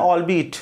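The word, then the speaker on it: albeit: तो उसने कहा नाउ वो कह रहा है ऑल बी इट, प्रोनाउंसिएशन भी ध्यान रखना है, इसका प्रोनाउंसिएशन है ऑल बी इट, है ना।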